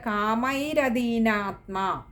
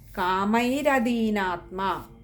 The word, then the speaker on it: കാമൈരദീനാത്മ: ഹകാരം കൊടുത്ത് വായിക്കുക അടുത്തത് കാമൈരദീനാത്മ അവിടെ രയ്ക്ക് അകാരം കൊടുത്തു വായിക്കുക കാരണം അദീനാത്മ ആണ് അതുകൊണ്ട് കാമൈരദീനാത്മ അതുപോലെതന്നെയാണ് അതിന്റെ അടുത്ത വാക്കും